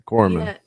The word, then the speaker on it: corpsman: Yeah, like Corpsman versus Corpsman is a famous one. It's a Corpsman. Yeah, but I think that's just the accent, and some people detect it, right?